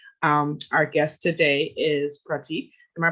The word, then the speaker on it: Prateek: to work day um our guest today is pratik am i pronouncing that right yep that's correct um and